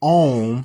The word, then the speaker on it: Om: So anyways, so as the story goes, so like I told you, the sound ah when you're chanting Om, that is actually 3 syllables, which are ah, u, and So A-U-M.